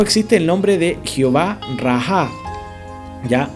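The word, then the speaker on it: Jehová Raah: Por otro lado existe el nombre de Jehová Raha, ¿ya? O Raaj, porque la H en el lenguaje hebreo se pronuncia como una J, así como gutural, que sale como de adentro, perdón que haga el sonido, pero así es como suena.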